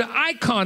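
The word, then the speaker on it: εἰκών: He's instead, by inspiration of God, uses the word icon. It's spelled in Greek E-I-K-O-N. The E-I is pronounced I.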